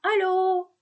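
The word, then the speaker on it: allô: Nah, sekarang kalau ada aksang sirkumfleks di atasnya, ada topinya, ada atapnya, maka dia bukan terbaca O, tapi O bulat. Oh, gitu. Ya, O. Oke? O. Nah, contoh pada kata alo.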